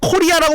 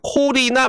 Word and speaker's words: 코리나: 마리아나도 아니고 나 코리아라고 부를 뻔했어, 여러분들. 죄송합니다. 코리나 마차도 되겠습니다.